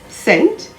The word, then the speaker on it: scent: d-e-b-t-o-r and doubtful d-o-u-b-t-f-u-l the letter c is generally silent if it comes before the letter s and before the letters i or e for example conscious c-o-n-s-e fluorescent f-l-u-o-r-e-s-c-e-n-t c-s-c-e-n-e scent s-c-e-n-t muscle m-u-s-c-l-e scissors